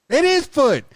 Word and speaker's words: Amanda Foote: don't know about you amanda foote you know people and if the foot or do you pronounce the the e like footage yeah it's like it is foot that's beautiful now amanda